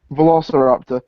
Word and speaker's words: Velociraptor: Velociraptor.